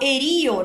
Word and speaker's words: herido: verdade é coração partido Mas eles eliminam a letra D então eles falam Partio herido eles falam herio na canção né O